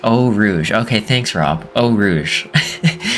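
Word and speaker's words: Eau Rouge: if uh oh Rouge it's pronounced oh Rouge okay thanks Rob oh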